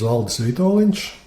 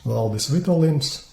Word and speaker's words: Valdis Vitoļņš: And who I am, my name is Valdis Vitoļņš, and I don't mind if you say it English Valdis Vitoļņš, because with non-diacritic letters, using only Latin letters, that's how it's pronounced in English.